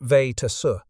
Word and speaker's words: Vejtasa: The family name was Czech, pronounced Vejtasa, but nobody in rural Montana could say it right, so they just called the boy Swede.